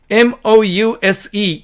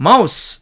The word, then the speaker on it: mouse: 그 다음에 2번 mouse 이렇게 철자하는 이 단어는 자, 명사로 생쥐라는 의미로 쓸 때는 mouse 이렇게 발음하고 동사로서 쥐를 잡다라는 의미로 쓸 때에는 mouse 이렇게 발음한다는 얘기입니다. 이때에도 se로 끝난 이 말들은 명사로 쓸 때는 스 발음을 했고 그 다음에 동사로 쓸 때에는 이렇게 z로 발음했음을 알 수가 있습니다.